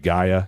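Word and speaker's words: Gaia: said guy I think I'm going um pronouncing that right Gia is that the right um that is actually right only thing I would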